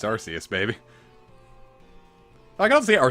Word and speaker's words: Arceus: go yeah Arceus well they said it was pronounced Arceus solely because the local it was like yeah we don't want the British kids to laugh at ours like that's stupid I'm